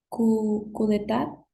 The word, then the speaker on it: coup d'état: en francés que, si no estoy mal, se pronuncia coup d'état. coup d'état Très bien, y oui.